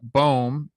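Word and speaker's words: Bohm: Boehm, I told him to lean into it and just play bad defense and bang like the rest of his team.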